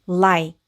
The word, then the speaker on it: like: 그러면이 단어 한번 읽어 보면 L은 르 소리가 나니까 여기이 부분은라 이렇게 읽게 되고 그리고 K는 크. 그리고 무음이는 소리 내지 않으니까이 단어는 like like라고 읽으면 되겠습니다.